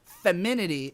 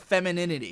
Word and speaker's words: femininity: The first video I ever got really shat on for pronunciation was when I said femininity instead of femininity.